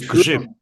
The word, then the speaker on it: grzyb: Would you like to try to pronounce the Polish word for mushroom? No. Probably sounds Grzyb. dirty. Is grzyb.